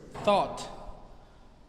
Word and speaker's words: thought: it with an ot the letters u g and h are silent so it reads t